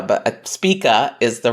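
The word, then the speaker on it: Spica: fixed star Spa I like to call it spika but Spa is the right way to pronounce it which is a star of rewards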